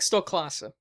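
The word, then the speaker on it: Stoklasa: Stoloska, Red Letter Media guy. I never learned how to pronounce his Really? last name. Mike Stolklasa, yeah.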